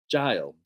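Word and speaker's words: gaol: is the old Melbourne jail now in English it's spelled g-a-o-l so it kind of looks like goal but you pronounce it jail j-a-i-l so it's the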